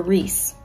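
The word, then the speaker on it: Rhys: to as i sand or rise is actually pronounced resand or reese so i'm going to say it wrong about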